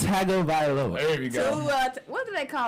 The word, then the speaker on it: Tua Tagovailoa: It's Tua Tagovailoa.